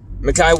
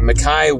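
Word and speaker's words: Mekhi: coming into the um mikai wingo sorry i pronounced his name wrong makai wingo coming in at defensive end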